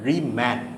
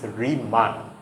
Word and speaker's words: Riemann: and one more thing the pronunciation pronunciation here is not reman it's reman okay but in this